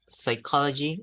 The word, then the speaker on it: psychology: psychology did you understand psychology Psychiatry psychic psyche receipt for example as you can see here there are one two three four five just six words where we never pronounce the P sound uh there isn't a